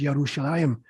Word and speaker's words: Yerushalayim: Or you talk about Jerusalem with a J, it's not spelled with a J, it is Yerushalayim with a Y.